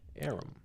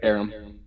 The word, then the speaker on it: Aram: produced by Aram. That's how you say his name. Yep, Aram.